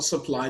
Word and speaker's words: supply: For supply, the stress is on the second syllable.